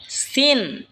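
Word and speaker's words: سين: এরপর হলো সিন। সিন জিহ্বার আগা সামনের নিচের দুই দাঁতের আগার দিকে লাগা উচ্চারণ হবে সিন।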